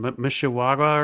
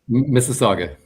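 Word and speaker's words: Mississauga: I can I can never remember how to pronounce the name of that city or say you're in Mishawaga or something. Missaga.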